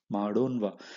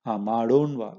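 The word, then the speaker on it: ಮಾಡೋಣ್ವಾ: You have to, the previous matra has to be half. Only then you can pronounce it. Madona, right? Madonva. So we know that madona means shall we do. Okay, sorry, madona means let us do. Madona means let us do. But if you want to say shall we do, then you will have to say madonva. Okay, that in has to be half matra. That's the key of pronunciation.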